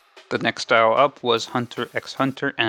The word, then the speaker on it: Hunter x Hunter: Hunter x Hunter and I'm pronouncing it that way because there's an X in the name I don't care if in Japanese it's silent I'm an english- speaking person this is English Hunter x Hunter so this is the